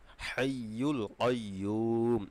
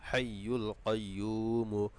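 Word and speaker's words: حَيُّ القَيُّوم: ইয়া পেশ ইউ হাইুল আর কফ জবর ক হবে এখানে কাইয়ুম হবে না অর্থাৎ কফ জবর ক হবে ইয়া পেশি মদের হরফ পেশ জলা মদের হরফ এখানে এক আলিফটান হবে হাইুল কাইম এই উচ্চারণটা একটু কঠিন আপনারা একটু বেশি করে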